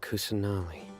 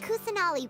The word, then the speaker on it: Kusanali: Lord uh cousin Ollie really bless your lord kusunami I keep saying name wrong what you don't believe us let your lord kusanali was definitely using the Akasha to give her